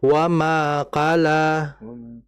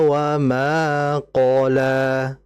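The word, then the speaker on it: وما قلى: Nah, jadi hati-hati dalam membaca Qnya w jangan kita baca wqala. Jadi seakan-akan kayak kala kayak kalau adalah qola. Sehingga yang menjadi e perhatian kita adalah menebalkan huruf qof-nya ya.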